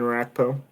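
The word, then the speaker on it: Orakpo: were roommates mm-hmm but that they had um a rack bow is that you say his name that defensive end brian rackpo yeah like dope once in a while i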